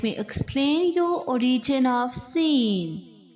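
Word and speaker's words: سين: Please don't forget to produce whistle sound in this letter.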